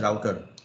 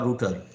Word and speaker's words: router: The third device, it is known as router or router. Router or router pronunciations are true. One is US pronunciation, other one is UK pronunciation.